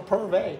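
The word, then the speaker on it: Purv'e: Hey, but it's from Purvey. That's right. Purvey donuts are really worth it. Yes, and yes, man. It's spelled P-U-R-V, apostrophe E. E. But the E is silent. The Purv isn't silent. Purvey.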